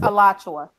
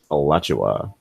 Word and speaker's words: Alachua: Chua County Jail Monday it's pronounced Alachua Alachua watch what is that okay